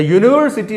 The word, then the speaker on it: university: அந்த யூனிவர்சிட்டி அப்படிங்கும்போது பார்த்தீங்கன்னா ஃபஸ்ட்டு வருது யூ அல்ல, ஒய் உச்சரிப்பு வரும். நம்ம யூ YOU யூ அந்த உச்சரிப்பு வரும், யூனிவர்சிட்டி. ஸோ அதுக்கு முன்னால் ஆன் போட முடியாது. Because according to the pronunciation it இஸ் நாட் யூ பட் இட் இஸ் யூ.